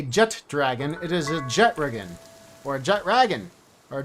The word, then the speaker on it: Jetragon: I prefer Jetragon over Jet Dragon, because the name literally has Jet and Ragon combined.